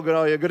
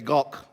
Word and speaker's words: Gogh: Don't say go, don't say go, say Gogh. Yeah? Get it from the back of the throat.